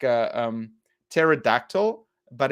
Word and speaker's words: pterodactyl: it's it's like a pterodactyl but it's so the p is silent so Tehran it's like like uh um pterodactyl but it's p-t-e-r-o-n which